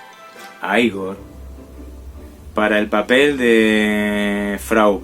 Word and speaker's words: Igor: sting para el papel de higos no se pronuncia icon a igor para el papel de frau mujer para el